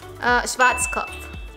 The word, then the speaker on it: Schwarzkopf: And how do you say it correctly? Schwarzkopf.